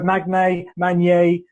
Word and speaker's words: Magnay: Well, funny you pronounce it with a soft G, which I joke is well, technically it's the French pronunciation, being half French, so there is a degree of that.